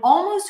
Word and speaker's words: almost: Yes, so in almost, we barely hear the L, right? It's not, but it's also there, because I'm not saying almost, almost.